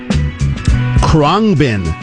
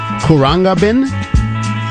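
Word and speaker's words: Khruangbin: now i'm gonna say how am i gonna pronounce this kronbin k-h-r-u-a n-g-b-i-n kuranga bin song here is called maria tambien and i'm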